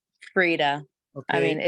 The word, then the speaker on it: Frida: And that was the question from, is it Frida or Freida? It's Frida. I mean, Okay, it's pronounced yeah.